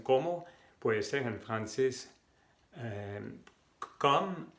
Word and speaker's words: comme: Comme, comment. Primero la pronunciación. Comme, y la E al final jamás se pronuncia comme.